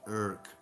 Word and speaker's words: Irk: Your calling is pronounced like jerk without the J. Irk. Oh, Irk.